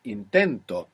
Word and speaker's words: intento: well intent inent good the accent intent we have the accent on the end when we put the O the accent is just before it intento now this is extremely important if I say intento if I put the accent on the end it means something else it means he tried